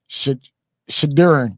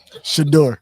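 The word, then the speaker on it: Shedeur: Shadurin Sanders. I said it right. Shador. Shadur.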